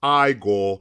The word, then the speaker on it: IGOR: Actually, it's pronounced IGOR.